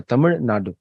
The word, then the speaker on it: तमिलनाडु: इस बार मैंने पहली बार तमिलनाडु का करेक्ट प्रोनाउंसिएशन सीखा। तमिलनाडु, तमिलनाडु।